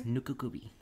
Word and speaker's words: Nukekubi: It's spelled Nukekubi. So it's Nukakubi.